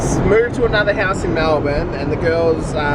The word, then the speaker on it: Melbourne: Why do Americans say Melbourne? It's Melbourne. Burn. Burn as in, I'm on fire. Not born as in freaking the Born Identity.